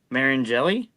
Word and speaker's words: Mariani: I mean, it's and then Marian Mariani.